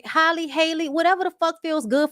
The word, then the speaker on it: Halle: I hadn't heard nobody pronounce her name when I started calling her Halle Bailey. It's because it rhymes, bitch.